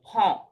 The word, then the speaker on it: prends: Font মানে to take, to take তো font two উচ্চারণটা ফন্ট একটু কারেকশন করবেন। je prends, টু prends, font font D, ডিএস উচ্চারণ হবে